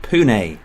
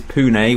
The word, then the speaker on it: Pune: So in episode 2 I found my first club, Pune FC. It's not Pune, it doesn't rhyme with prune unfortunately, but thanks for those of you that did correct me. It is Pune, one of the biggest cities in India.